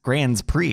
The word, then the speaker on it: Grand Prix: Grand Prix is how you say that.